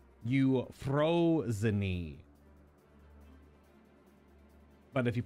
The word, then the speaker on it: Euphrosyne: how the name of this raid is called you froze knee but if you pronounce it in English it would be like you're frozeine or something like that or you're Frozen which